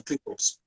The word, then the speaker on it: Cleethorpes: Is that the correct yeah, pronunciation? Cleethorpes, right?